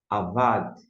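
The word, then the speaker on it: אבד: E a gente vai ler então a primeira sílaba, a segunda aqui no meio, va. Por que a va? Porque não tem um pontinho dentro chamado da gixe. E aqui no final nós temos um d. Como é que a gente vai pronunciar? Eis aqui a transiteração. Avad. Avad.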